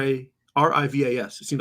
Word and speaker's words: Rivas: Alfonso Rivas Rivas ravas Rivas how do you pronounce R A r-i-v-a-s it seems like it should be easy rebas